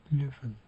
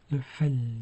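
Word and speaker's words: Löffel: 2 F iki harfi yan yana geldiği zaman çoğunlukla tek olarak okunuyor. Löf löfel demiyoruz.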